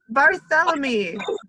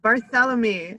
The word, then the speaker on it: Barthélémy: I should know better barthélémy barthélémy it's like Bartholomew but oh well I'm not Kelly